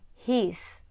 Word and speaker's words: his: For instance, after teaching has, you can explain his, is, as. They all follow the same pattern of being spelled with an S at the end but pronounced with a Z sound.